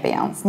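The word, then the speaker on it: Beyoncé: Do you remember the rule about pronunciation of final E of the words of foreign origin? I talked about it in my film about coffee and beverages.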